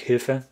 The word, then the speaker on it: Hilfe: Anything with an H in German, like Hilfe. Usually French people, if they're not on a rather intermediate or high level, they say Hilfe because so the H is silent.